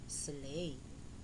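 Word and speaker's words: sleigh: eight now let's review these words with silent gh knight n i g h t night do d o u g h slay s l e i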